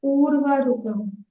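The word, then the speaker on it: उर्वारुकम्: Akka, is this Urvarikam or Urvarikam? Like a small. Urvarukamiva bandhanan. Urvarukamiva bandhanan. So Urvarukam. Urvaruka. Yes.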